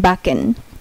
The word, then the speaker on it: backen: তারপর হচ্ছে সিকে, সিকে যদি কোনো ওয়ার্ডে একসাথে থাকে তাহলে এটার উচ্চারণ হবে কয়ের মতো। সিকে যদি কোনো ওয়ার্ডে একসাথে থাকে তাহলে এটার উচ্চারণ হবে কয়ের মতো। যেমন BACKEN, বাকেন, এই যে BACKN, বাকেন, এই যে সিকে, সিকে আছে এখানে, তাই এটা কয়ের উচ্চারণ হয়েছে, বাকেন।